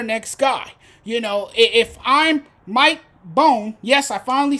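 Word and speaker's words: Bohn: If I'm Mike Bone, yes, I finally said his name right.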